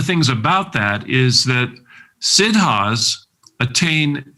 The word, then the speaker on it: Siddha: And there have been many Siddhas in the history of India, great, great saints, yogis, sages, who attained the perfection of consciousness. And one of the things about that is that Siddhas attain siddhis.